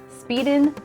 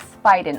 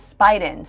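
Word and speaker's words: Spieden: Spiden. Spying animals.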